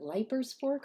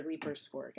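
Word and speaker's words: Leiper's Fork: from from uh was is it leers fork or leapers Fork I forget how they pronounce it I think it's leapers I forget how they pronounce it yeah leapers Fork Tennessee but yeah so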